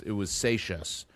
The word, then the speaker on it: Seixas: It was Seixas. Paul Seixas was the way they pronounce that. I guess that's Portuguese.